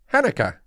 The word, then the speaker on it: Hanukkah: can be tricky because hanukkah is not an english word it's a hebrew word and the first letter has no equivalent sound in english the first letter is pet there's no in english so people in english kind of make it up as they go along that they do it